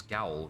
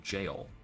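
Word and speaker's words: gaol: truly huh interesting also i always thought it was gowl rather than jail although that um like that makes sense pronunciations and spellings evolve over time after all okay the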